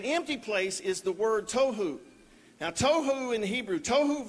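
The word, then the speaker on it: תֹהוּ: that right there but he says that it's pronounced toou right is chaos Wilderness waste confusion a place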